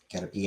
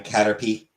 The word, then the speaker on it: Caterpie: Caterpie, not pie. But it's spelled with an I-E. But it's spelled P-I-E. Fine, Caterpie, whatever.